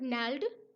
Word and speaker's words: gnarled: अब ये GNARLED, इसमें जी साइलेंट होता है। और नैल्ड डिजीज, नैल्ड डिजीज होती है गठिया बाव, गठिया की बीमारी होती है जिसमें हड्डियां मुड़ जाती हैं।